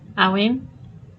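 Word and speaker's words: Eryin: How do you pronounce that? Awin.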